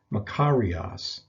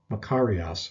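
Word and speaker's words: μακάριος: a term that's used quite a bit it's pronounced makarias makarias or makaria makarian in the feminine and neuter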